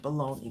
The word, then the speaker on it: bologna: That's like calling bologna bologna. Well, we call it bologna, babe. But why do we call it that if it's spelled bologna? Because what? My bologna has a first name. It's spelled bologna. But we say bologna, but no one questions it.